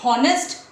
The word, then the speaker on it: honest: But can we say honest? No. H is not what?